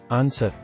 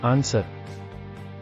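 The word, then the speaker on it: answer: ಅಕ್ಷರಗಳು ಎಂದು ಹೇಳುತ್ತಾರೆ ಉದಾಹರಣೆಗೆ ಆನ್ಸರ್ ಉತ್ತರ silent letter the blue ಆನ್ಸರ್ ನಾಟ್ ತಟ್ಟುವುದು silent letter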